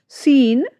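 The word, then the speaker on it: scene: जब एस के तुरंत बाद सी आता है तो अक्सर सी जो हमारा है वो साइलेंट हो जाता है। एग्जाम्पल देखिए, मसल्स, शाइन्स, सीन, सेंट।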